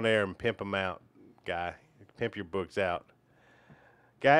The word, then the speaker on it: Guy: So, Guy rhymes with buy, high, sigh, high.